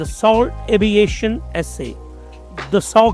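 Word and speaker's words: Dassault: दसऊ कहते हैं वो वहां पे फ्रेंच में लेकिन हमने प्रोनाउंस करना है। तो दal नॉर्मली बोला जाता है। बट दसऊ इज a French pronunciation.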